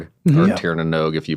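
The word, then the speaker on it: Tír na nÓg: Um, called the Tieranog or Tieranog if you pronounce correctly, which I do not cuz I'm from here.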